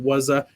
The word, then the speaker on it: Wazuh: It's called Wazoo, Wazuh. Some people pronounce it Wazza.